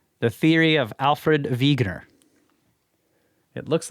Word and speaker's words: Wegener: This is how they show to pronounce it. So that's Wegener.